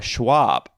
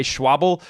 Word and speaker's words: Schwalbe: Now, I want to point out this video is not sponsored by Schwalbe. That's right, that's how you say it, even though I still say Schwalbe every now and then.